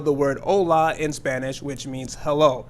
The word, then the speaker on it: hola: Let's say that you do not know how to spell the word hola in Spanish, which means hello. So the way to spell this word is H-O-L-A. and the H is silent.